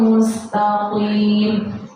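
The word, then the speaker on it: مستقيم: tapi opo sirotol mustaqim qof bukan kas jadi kita bacanya gitu kalau kita baca mustaqim biasa salah artinya sudah beda mustaqim jalan yang lurus itu pakai koff bukan pakai Kaf ih dinas itu pakai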